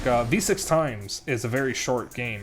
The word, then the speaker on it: VVVVVV: If you don't know what V6 Times is, that's the game that has the title that is the letter V 6 times. It's actually called V6 Times.